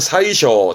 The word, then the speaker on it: 宰相: 발음은 사이쇼, 재상의 제자, 사이쇼인데 많이 쓰진 않습니다.